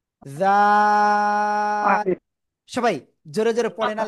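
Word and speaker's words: ذال: এই যে জাল, জিহ্বার আগা উপরে 2 দাঁতের আগে লাগাবো, লাগিয়ে এটা নরম করে উচ্চারণ করব, আর 3 আলিফ টান হবে, জাল, ঠিক আছে, জাল।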